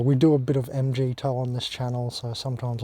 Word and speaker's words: MGTOW: towing them that's why i call it mgtow not mgtow because meg cow is just pronouncing the acronym weirdly it's meaningless mg toe at least it gives meaning to it so i'm mg toe